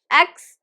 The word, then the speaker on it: exponentially: The stress is right in the middle, third syllable. So it is stressed, we stress the nun. Exponentially, exponentially.